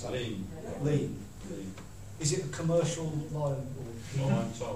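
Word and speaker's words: lien: follow that up with a commercial, is it Lean or Lions? I don't know how you pronounce that. Lean. Is it a commercial lion? Oh, Lean, sorry.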